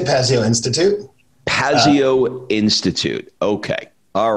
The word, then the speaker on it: Pazio Institute: We say Pazio Institute.